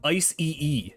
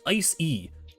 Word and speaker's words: Icy: Also, a lot of people pronounce this like Ice-E-E. It's just Ice-E.